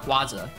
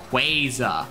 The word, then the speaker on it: Rayquaza: uh Rayquaza you know it's not quasi the Pokemon company has specified many times guys it's they're multiple pronunciate examples of pronunciation in the show in some 3DS Pokedex thing it's quasa like quasar it's not Quasar it's Quasar oh people are like